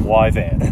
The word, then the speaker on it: Yvan: and call him Yvan. Ivan. That's the way it's Okay. spelled because no one can really pronounce it.